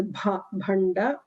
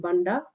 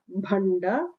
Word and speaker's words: Bhanda: So there are 3 Mahapranas that need to be pronounced really, really well. The first one is Bhanda. Don't call him Banda. Bhanda is the villain we are talking about here.